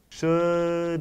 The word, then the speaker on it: should: Should we. Do you say the L or no when you say should or could? Wow, you guys are correct. You do not say or pronounce the L, and you continue with the word.